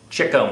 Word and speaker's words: Chico: marks and of course by Chico marks I mean Cho marks but no one pronounces his name correctly it's kind of like